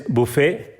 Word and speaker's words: buffet: Next is buffet, BUFFET, that is refreshment room. बुफे हम जानते ही हैं, रिफ्रेशमेंट लेते हैं जैसे हम कहीं भी रेस्टोरेंट में, होटल में, बुफे। टी साइलेंट है इसमें।